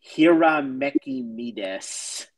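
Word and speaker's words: Hiramekimedes: His name is, and I apologize for people who know that this name is a mouthful, Hiramekimides.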